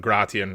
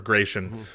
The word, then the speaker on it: Gratian: going to die and his son gratian or gracian uh if you're if you're following the old giban uh pronunciation angloid I honestly love the angloid pronunciations of a lot of